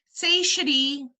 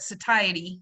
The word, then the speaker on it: satiety: new word say shitty say shitty or some people will pronounce that satiety I pronounce it's a shitty say shitty means to